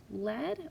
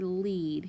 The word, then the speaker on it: lead: Then I have dead, reach, east, seat, led, or lead. You can read that word either way. Sweet, death. Like the lead on a pencil is spelled L-E-A-D, okay?